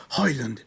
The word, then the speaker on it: Højlund: No, riascoltiamo perché questa è la pronuncia Chiedete danese. scusa a Rasmus Højlund.